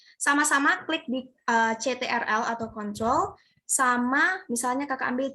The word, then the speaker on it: control: Ada tulisan CTRL, itu bacanya control.